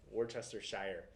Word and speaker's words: Worcestershire: It's spelled Worcestershire. Oh, okay. Worcestershire. Shire, like the Hobbit?